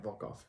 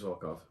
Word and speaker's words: Volkov: It's just Russian or so yeah, Volkov. Volkov. Is how it's spelled, but it is Volkov.